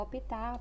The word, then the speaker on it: optar: então aí eu vou optar por essa resolução seja feita então optar sílaba tônica vai ser o que o tá então é necessária a